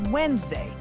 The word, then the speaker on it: Wednesday: It's pronounced as Wednesday, which is different than the way it's spelled.